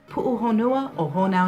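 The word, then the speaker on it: Puʻuhonua o Hōnaunau: I'll put in the Hawaiian pronunciation next because I don't want to misrepresent it. Pu'uhonua o honau now.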